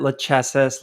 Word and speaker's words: Lachesis: uh you know where their their consensus mechanism it's spelled l-a-c-h-e-s-i-s been calling it lachesis lachisis cases and i heard it said it's correctly